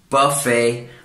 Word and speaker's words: buffet: example, the word buffet, in English we would pronounce it buffet, or the French as well, they wouldn't pronounce the T at the end.